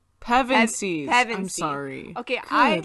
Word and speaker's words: Pevensie: Pevensies. I'm Pevensey. sorry. Okay, Good Lord. my whole life I thought it was pensive or pensive, which it's not.